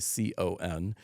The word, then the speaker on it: Picon: The reason it's called a pecan punch, and a lot of people will hear pecan and think of the nut. It's spelled differently. It's Picon, and that is kind of an interesting story in itself.